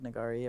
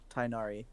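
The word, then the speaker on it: Tighnari: the bad guy tag nagari or whatever who you have to say it first I don't know how to say it the bat dude no it's like tinari oh tinari yeah you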